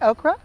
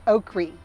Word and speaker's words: okra: okra do you say okra or do you say okri either one is correct it all depends on what area you are from the second seed to